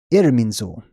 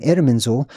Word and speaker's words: Irminsul: But Zul is one of the ways that you pronounce this S-U-L at the end of IRMINSUL.